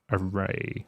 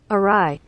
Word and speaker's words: awry: know that something is array array every like this already array how to pronounce arai arai arai all right British pronunciation but I'm an American awry awry something is awry awry so the moment